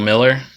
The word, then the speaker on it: Mueller: jermaine dye he's a pretty good player bill miller even though it's spelled mueller bill miller jose cruz jr i